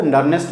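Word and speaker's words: Nernst: इसके कैलकुलेशन को हम लोग आगे सीखेंगे नर्स्ड इक्वेशन में। नर्स्ड इक्वेशन इसके लिए हम लोग आगे पढ़ेंगे। समटाइम्स इसको नर्नेस्ट इक्वेशन भी कुछ लोग प्रोनाउंस करते हैं, कोई हर्ज नहीं है उससे।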